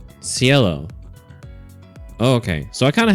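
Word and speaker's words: Cielo: Pronunciation. Sello.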